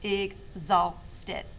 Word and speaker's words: exhausted: week exhausted okay and it sounds like it has a g in it but it doesn't so when i was looking at the pronunciation today i was like hmm that's a little interesting stead three syllables egg stet okay it is an